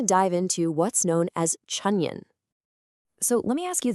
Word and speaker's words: 春运: That's pronounced Chūnyùn.